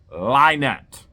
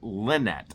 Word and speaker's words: Lynette: Her legal name is LIEnette. Okay, you may pronounce it Lynette. I pronounce it with a little bit of a northern accent, along with other words like Dow.